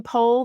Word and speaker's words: Pol: Pol told the story about his name being Paul originally, and his mom, he's Armenian on both sides, so his mom used to say his name Pol. That's how she pronounced it.